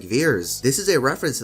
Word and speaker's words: Vers: Captain Marvel's Kree name Vers is pronounced like Veers.